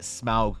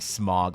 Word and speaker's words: Smaug: what is Smaug's title I'm even pronouncing smile correctly for you Lord of the Rings nerds all right I'm not saying smog like everyone else does all right I'm trying